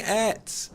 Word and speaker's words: ate: Stop saying et! No! That's how it's pronounced in my neck of the woods. Leave me alone. Where? Leave me alone. I'm allowed to pronounce it et.